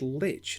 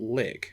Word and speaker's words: lich: oh it's pronounced Lich not lik okay huh that would explain why people were